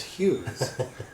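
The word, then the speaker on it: ヒューズ: Now, Japanese pronounce fuse as Hughes.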